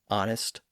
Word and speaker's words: honest: H at the front, some of which have retained that silent H, like honor, honest, hour, H-O-U-R, and heir, H-E-I-R.